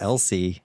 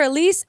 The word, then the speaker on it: Elsie: I think it's Elsie. Elsie. Yes, Elsie. I wanted to call her Elise, Elsie, Elsa the whole time.